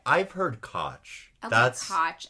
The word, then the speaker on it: Koch: I I feel like most people say coach. I say I've heard cotch cotch. I feel like that's definitely made up.